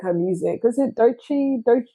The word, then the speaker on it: Doechii: Is it Doechii? How do you pronounce?